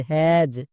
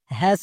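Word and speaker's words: has: তাহলে হো plus অ্যাজ কি হবে? হ্যাজ। একে আমরা ভুল করেও হ্যাস উচ্চারণ করতে পারবো না।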